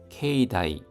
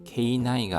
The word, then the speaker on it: 境内: 케이다이 발음에 주의해 주십시오. 케이나이가 아니라 케이다이입니다. 케이다이.